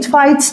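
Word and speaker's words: fight: العجلات الحربيه فايت كلمه فايت معناها قتال ها برضو الجي والاتش سايلنت جلاديتور فايت اللي هو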